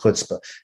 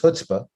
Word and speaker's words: chutzpah: us to the word chutzpah, which some people pronounce chutzpah, because the ch sound is difficult for us as Americans.